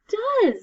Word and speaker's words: does: what's this trick word does that's right we have do and does it sounds like a z at the end but it's an s and it sounds like a short u d uh so do and